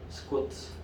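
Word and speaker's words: סוכות: 지금도 유대인들은 그 기간에 스쿼트 이렇게 발음해요. 히브리어로 스쿼트.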